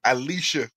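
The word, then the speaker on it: Allisha: One of the greatest things I've seen so far, they were asking Alicia, that's how you pronounce it, Gray, because she won the skills contest and the 3-point last year.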